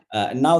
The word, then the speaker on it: Ng: fantastic tips by Andrew Ng. I'm not going to tell what it is there. So this talk, again, I mean, it's not Andrew Ng, it's Andrew N, the pronunciation.